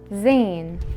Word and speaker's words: زين: which is the letter Zayn the letter Zane is equivalent to the letter z in English it is easy to pronounce and detect because it's equivalent in pronunciation to the English letter Z and it only functions